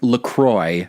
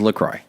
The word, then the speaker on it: La Croix: is call is pronounced Lacroix because it's American bastardization of French word so that is the official pronunciation is Lacroix not go boy I'm